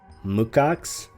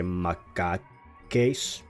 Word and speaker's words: macaques: actually suggested like the Mukaks. I had to actually look up the pronunciation of that because I wanted to say Makakes, because I just want to say it how it's spelled usually.